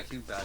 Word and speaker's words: King Bach: Oh no, yeah, King Batch.